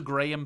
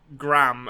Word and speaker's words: Graham: that's just wrong like his name is clearly pronounced graham like even even if you would default to you know gram as the as the as the start of pronunciation now i i struggle uh